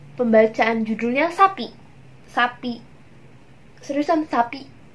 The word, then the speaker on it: Sappy: Seriusan sapi. Pembacaannya seriusan kayak sapinya sapi Indonesia.